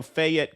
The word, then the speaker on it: Fayette: So Fayette County, we got into that a little earlier.